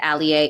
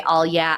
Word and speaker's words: Alyea: name spelled a l ye a it is pronounced Alia if you say all yeah I won't get mad but you if you